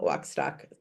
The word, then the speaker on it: Wachstock: waxtock. Two ch's each pronounced differently.